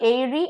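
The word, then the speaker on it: aerie: है pronunciation same है ए ई आर आई ई एरी एंड एरी दोनों का प्रोनंसिएशन सेम है स्पेलिंग इज डिफरेंट फर्स्ट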